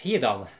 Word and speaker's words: Hidan: But the average Norwegian man, he would actually pronounce it as Hidan, exactly the same as Japanese.